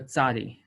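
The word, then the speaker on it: צ: So this is the tzadi. Tzadi is pronounced like a TS, as it says over here. So I will say atza.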